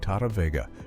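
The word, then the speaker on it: Tahta Vega: a completely different person, a talented vocalist named Tata, whose name is spelled T A H T A Vega.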